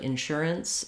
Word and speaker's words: insurance: So now what's happening with this A here, insurance, we basically have no vowel sound. So we go right from the vowel, or from the R sound to the N. So that's called a syllabic N.